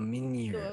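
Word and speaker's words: Mjölnir: Oh, So I Mjolnir.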